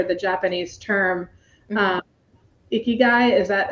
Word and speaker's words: ikigai: um, ikigai, is that how we say it? You spell it I-K, Ikigai, Ikigai. Okay, good.